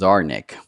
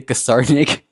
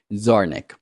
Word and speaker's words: Zarnik: Liberty's last name is pronounced Zarnik. The C is silent. What did I say? Did I say Kasarnik?